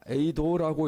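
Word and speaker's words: εἶδον: 저 단어입니다. 에이도라고 읽습니다.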